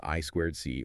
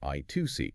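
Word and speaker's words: I²C: Then a very popular and efficient protocol is ISOIt often pronounced I squared C or I2C.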